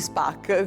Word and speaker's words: Spock: Quando cominciai a guardarla, eh, come molti e molte, mi fissai sul personaggio di Spock, anzi Spark, come a quell'epoca lo pronunciavano, lo pronuncierò sempre io.